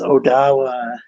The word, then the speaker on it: Odawa: carrier was telling me it was pronounced Odawa and Ojibwa, like in the more proper pronunciation.